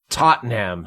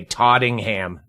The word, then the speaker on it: Tottenham: an American accent yeah Tottenham hot spur you say tottingham she completely wrong you just at one